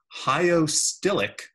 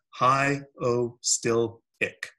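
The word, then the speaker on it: hyostylic: new word for you hi Oh still ik jaw suspension you pronounce that hi Oh still pick what does that mean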